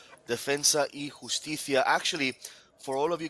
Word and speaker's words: Defensa y Justicia: I am loving the way you pronounce it now. It's absolutely correct. Defensa y Justicia.